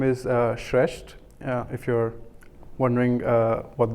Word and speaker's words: Shreshth: good morning my name is shresht if you're wondering uh what that strange constellation of consonants mean in in that in my name I pronounce it shreshed and I have the privilege of leading the